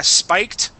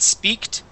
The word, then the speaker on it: spiked: you Kip okay yeah spiked okay remember class that word is spiked and not speaked okay spiked okay uh